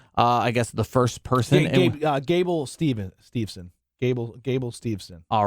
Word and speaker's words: Gable Stevenson: What you just said is something I'd be like, no, you're saying it wrong because that's not anyone's name. Gable Stevenson.